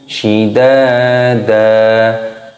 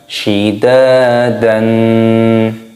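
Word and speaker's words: شدادا: Cara bacanya yaitu shidada, bukan shidadan.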